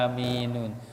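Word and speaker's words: آمين: ya apa namanya amanlah maka seharusnya Amin ini tulisan aslinya adalah aminunu ya tulisan asinya aminun maka karena itu dimatikan hurufnya Ujung nya karena wakaf wakaf itu karena berhenti maka jadinya bacanya Amin ya Nah ini penting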